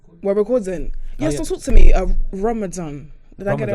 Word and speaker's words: Ramadan: Ramadan.